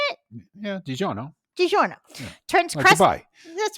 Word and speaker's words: DiGiorno: DiGiorno is that how you say it yeah DiGiorno DiGiorno transcribe that's right uh turns crust into